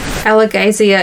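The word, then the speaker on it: Alagaësia: at this pronunciation gu we've got um alazia emphasis emphasis on all caps gay in the middle see please wo oh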